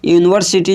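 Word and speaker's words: university: Umbrella में क्या से स्टार्ट होता है? अंब्रेला। अंब्रेला जो है वह अ से स्टार्ट होता है। जबकि यूनिवर्सिटी जो है वह य से स्टार्ट होता है।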